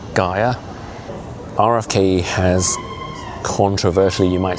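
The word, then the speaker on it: Geier: I think I'm pronouncing it correctly, G-E-I-E-R, Gia.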